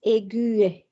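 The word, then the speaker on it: aiguë: So in certain cases, to remind you to pronounce the last U sound, we can add the tremor over the U. So, for example, the adjective aigu becomes aigu, okay, to show us that we pronounce the U when it's in its feminine form.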